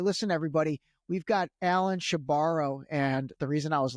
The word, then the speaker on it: Shebaro: And he said, yeah, she borrows the money and she never gives it back.